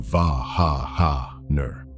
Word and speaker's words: Wagner: In German, the W is a V. Say Wagner properly, and it lands close to Va-ha-ha-ner.